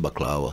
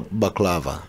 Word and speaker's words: baklava: okay back Lama in in Lebanese is pronounced baklawa back well but here America it is war baklava baklava yeah yeah they just Americanize it this sweets the desserts